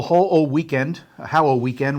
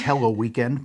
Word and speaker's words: Hallow Weekend: Right, the annual Hallow Weekend, which I keep mispronouncing as Hello Weekend, but it's on the Milford Green, and a lot of the stores are participating.